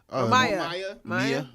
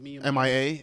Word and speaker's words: Mia: Is it Mia? Maya. M.I.A. Mia, I guess.